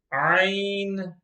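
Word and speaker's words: عين: one box number 28 ein ein ein is pronounced from the middle part of the throat the next one box number 29 and the next one the last one box number 30.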